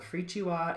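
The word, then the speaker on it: Firikyiwa: that um this is again it's called the free chua it's spelled f-i-r-i-k-y-i-w-a i'm pretty sure i'll put a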